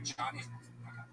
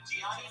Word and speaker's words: Gianni: Like Gianni Versace, but. Oh, okay, Johnny. You're gonna No, Gianni Versace.